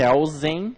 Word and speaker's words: Kelsen: jurista alto austríaco hans kelsen hans kelsen hans kelsen como alguns preferem que de acordo com alguns doutrinadores a pronúncia mais correta no alemão seria que causem e não quer ou